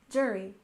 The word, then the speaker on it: jury: we have jury duty we stress the first syllable in jury jury and the first syllable